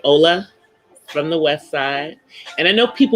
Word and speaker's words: hola: We said hola because the H is silent.